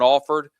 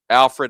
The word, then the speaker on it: Alford: Horatio Fields, uh Dillon Alford is someone that we've said his name a lot. Alfred, I say it wrong every time. Every single time, Alfred.